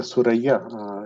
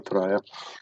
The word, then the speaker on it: Thuraya: If you in Arabic or Urdu, the word is Suraya. It's a constellation of stars. And so, if we translate it from Arabic to English, or we pronounce it from Arabic, so it became a Thuraya.